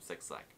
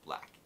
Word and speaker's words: 6LACK: Answer requests, I'll be reacting to another music video from Six Black, or pronounced Black, called Switch.